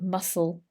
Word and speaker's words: muscle: loss and loss of muscle bulk here listen to this muscle muscle bulk the c is silent muscle bulk they may